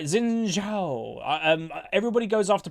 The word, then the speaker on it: Xin Zhao: Like, I think if you wanted to pronounce this properly, it's like Xin Zhao or something. Like, I think it's like a J noise.